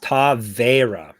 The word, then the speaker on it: Taveira: And AI says it's pronounced Taveira. So that's what we're going to go with. Oh, now. Like Pereira? I guess so.